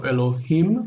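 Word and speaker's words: אֱלֹהִים: So Elohim, the accent's on the end.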